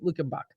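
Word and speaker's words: Luckenbach: say it right now good morning it's friday luke and buck so there's a lot of german settlements here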